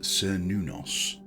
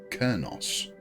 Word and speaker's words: Cernunnos: It's widely accepted that the reconstructed pronunciation is Cernunnos, pieced together from ancient sources. However, the simpler modern pronunciation, Cernunnos, is also perfectly acceptable.